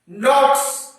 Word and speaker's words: knots: नोट्स, KNOT, के silent है, देख लीजिए।